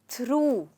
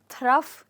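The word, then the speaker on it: through: यूजी H okay और इस word को हम बोलते हैं थ्रू जी हां इसमें हम थफ या थग नहीं कहेंगे हम इसको कहेंगे थ्रू तो जैसे कि मैंने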